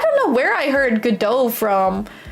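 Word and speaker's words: Godot: To be honest, uh I still don't know how to pronounce if it's GDO or go do DOT cuz my friend just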